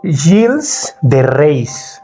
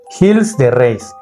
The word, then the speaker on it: Gilles de Rais: Voy a hablar de un señor llamado Gilles de Rais. No sé si así se pronuncia, okay. Es francés. Gilles, con doble L, de Rais. Como raíz, okay. Pero con S. Uh-huh. Gilles de Rais.